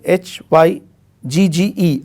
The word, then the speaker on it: hygge: but there is a concept in denmark called hygge it is written as h y g g e i would request the viewers to check it out is pronounced as hygge it means a coziness of